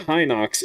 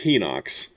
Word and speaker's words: Hinox: And instead everyone was like it's not Hinox, it's Henox. And after doing some research it seems like Henox probably is the technical correct way to say it.